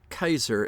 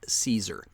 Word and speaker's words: Caesar: the Common People note I am pronouncing the word Kaiser as it is pronounced in Latin not the anglicized Caesar while Kaiser and Kus